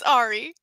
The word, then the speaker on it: Ahri: It's Ari. It's Ari. Yeah. Ah, Yeah. So AHRI. That is how her name is spelled.